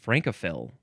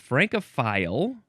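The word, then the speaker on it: francophile: Um, I guess that one would be pronounced franophil. So, it's franophile or franophil adjective from 1887.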